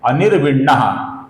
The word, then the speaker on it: अनिर्विण्णः: सर्वप्रथम नाम है अनिर्विण्णः। इसका जो विसर्ग है इसके आगे स्थविष्ठः का स आया हुआ है। इस कारण से विसर्ग का हम हल्का सा स ऐसा उच्चारण करते हैं, अपूर्ण स ऐसा उच्चारण करते हैं।